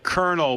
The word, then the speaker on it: colonel: Uh, Colonel, but like the kernel of corn.